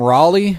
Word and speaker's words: Raleigh: even even um like is it Riley or ra I I always I don't know this just Riley I'm calling him Raleigh because that's the capital of North Carolina and it's spelled that way um him and his